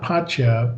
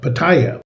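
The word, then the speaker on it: Pattaya: matter if it's uh how did they say to pronounce it uh not patcha but uh paya. Okay. Somebody in the comments last time said they pronounce it paya.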